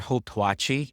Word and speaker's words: Hauptwache: So yung station dito is yung pinak yung um Hoped Vaha or Hopewai if you're pronouncing it the um American or English way. But you know why not pronounce it as the Germans do?